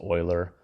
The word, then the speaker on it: Euler: Euler's number okay it was a mathematician it's pronounced Euler and this is just another symbol to represent